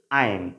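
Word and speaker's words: I'm: আইম। উচ্চারণ কী হবে? আইম। দেখুন এখানে বাংলাতে মেনশন করেছি আইম। আমরা যদি কেউ বলি এই শর্ট ফর্মকে অর্থাৎ আম উচ্চারণ করি, দেখুন এখানে যে আম, এটা কিন্তু সঠিক না, দেখুন ক্রস মার্ক দেখতে পাচ্ছেন।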